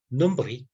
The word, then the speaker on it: nombril: Même histoire avec les mots nombril, qu'autrefois se prononçait nombril, sans prononcer la L.